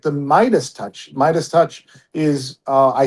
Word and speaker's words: Midas: And Midas Touch, spelt that way, I guess it's like Medias Touch, is the right pronunciation.